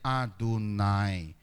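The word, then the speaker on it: Adonai: orang membacanya yehofah tapi huruf ini tidak dibaca Tetapi kalau orang Israel ketemu empat huruf ini YH mereka membacanya adunai adunai artinya Tuhan maka dalam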